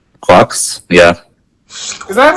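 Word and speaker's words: GQuuuuuuX: Quox? Yeah. Is that how it's said? I thought it was like G-Quox. I think it's supposed to be pronounced like quarks, but a Japanese person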